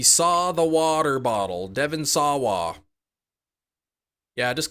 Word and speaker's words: Sawa: Just Sawa. Sawa? Devin saw a water bottle. He saw the water bottle. Devin Sawa.